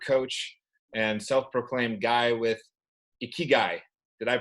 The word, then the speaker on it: Ikigai: And today we are talking with Jack Wilson from the greater Boston area, sales leader, mentor, coach, and self-proclaimed guy with Ikigai. Did I pronounce that right, Jack?